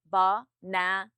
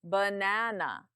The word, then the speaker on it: banana: Banana, louder and longer. Na is the stressed syllable. Ba and are the unstressed.